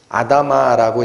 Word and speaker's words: 아다마: 받아요 땅이 저주를 받아요 땅은 히브리어로 아담아라고 읽히는 단어인데 사람은 아담입니다 땅에서 나온 자이기 때문에 그래서 아담이 범죄한 것이 곧 아다마 땅도 같이 저주를 받는